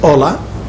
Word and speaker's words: HOLA: And as you see, it says HOLA, our H is silent, folks, the Hispanic Organization of Latin Actors, directory for 1993-94.